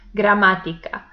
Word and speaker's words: gramática: And the last example is gramática. So the one syllable before the antepenultimate one is the stressed one, so it has the accent mark.